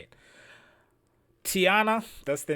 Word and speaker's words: Tianna: Tiana, that's the name of the artist we are reacting to.